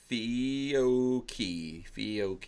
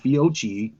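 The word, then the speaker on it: Fiocchi: Fioki, cool. See that? Hey, that's how you pronounce stuff. Fioki, yeah. Fioki. You're probably the dumbass that said Fiochi the whole time because you can't pronounce anything.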